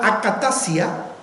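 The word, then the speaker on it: ἀκαταστασία: La palabra confusión, que es la palabra griega akatasia, así se pronuncia, Básicamente, literalmente, en realidad significa inestabilidad.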